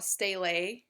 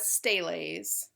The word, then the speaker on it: stele: You're going to see a lot of steles or steles. Depends on who you talk to, how they will pronounce it. I have always pronounced it stele, but again, you can also hear the pronunciation of stele, so it's really, I guess, a personal choice.